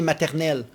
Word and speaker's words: maternelle: And how do you pronounce it in Thai? Anuban. Anuban? Yeah, Anuban. In French, we say maternelle.